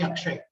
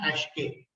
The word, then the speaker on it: Akshay: mr said in africa people used to find it difficult to call me akshay so they called me ash k they were not able